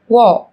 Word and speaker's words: walk: yellow, Một số từ sau đây sẽ có chữ cái L trong cách viết nhưng chúng ta không cần phát âm. Talk, talk, talk. talk, Walk, walk, walk.